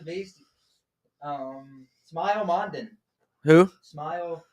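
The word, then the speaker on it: Smael: Smile is how you pronounce it.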